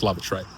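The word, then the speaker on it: Lavatrae: I think it's pronounced Lavatray. It's like a posh person asking for the toilet.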